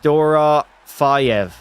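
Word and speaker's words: Dorofeyev: Dorv is pronounced Dora Fiev.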